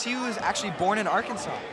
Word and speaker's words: Arkansas: a totally different state I know but what it's spelled AR Kansas but it's pronounced Arkansas kind English is a